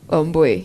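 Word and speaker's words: Wambui: Joining me this morning for the conversation is Wamboi. Yes. I think I got it right. Yeah, you did. The U should be pronounced as O. Omboy.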